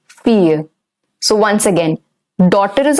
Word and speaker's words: fille: And daughter is fille. Fille. The double L in daughter is silent.